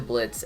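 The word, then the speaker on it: Blitzø: veracica varaska refers to blitz as a bullet so which is how he used to pronounce it before he started claiming the o is silent at some point likely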